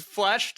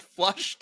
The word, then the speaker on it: fleshed: fleshed out, not flushed out. no, it's fleshed.